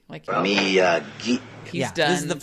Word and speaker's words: Miyagi: And he's like, Miyagi. Miyagi.